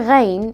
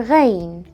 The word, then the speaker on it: غين: to pronounce it correctly the Arabic letter Reign is pronounced re as the French are in order to pronounce